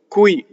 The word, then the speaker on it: qui: Next, you have the word qqui, Q-U-I, qqui, and then you have the word before it, a, right?